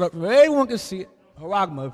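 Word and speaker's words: χάραγμα: Haragma pronounces it. So you know how it's pronounced. Strong's G, 5480. Haragma.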